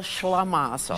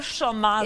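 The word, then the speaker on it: shlimazel: Shavazel?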